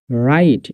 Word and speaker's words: write: For example WRITE রাইট, এখানে H silence.